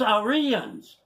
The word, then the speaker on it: Aryans: They don't even know how to pronounce it. It's Aryans.